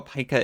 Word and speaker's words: pika: I know a pika is a rodent, and that it's pronounced pika, not pika.